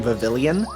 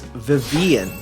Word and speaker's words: Vivillon: that we've been saying Vivillon. That is not how you pronounce it. It's Vivian, because of the fact that it's French, so the double L is silent, which is stupid, and I dislike that.